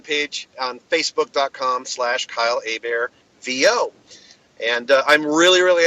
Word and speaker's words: Hebert: Kyle all right well my last name is pronounced a bear but it is spelled heb je y le